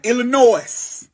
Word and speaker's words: Illinois: __ ] Michigan Indiana Illinois I know you ain't supposed to pronounce the ass but